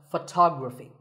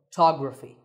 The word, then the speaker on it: photography: We say photograph, but photography. So the first syllable becomes f, and the stress goes to the second syllable, photography.